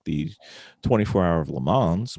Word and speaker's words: Le Mans: like the 24-hour of Le Mans, which is not 24-hour of Lemons mispronounced. It's actually the other way around.